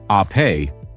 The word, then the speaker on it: Ape: This is the Vespa Ape, pronounced ah-pay, which means bee in Italian, just as Vespa means wasp.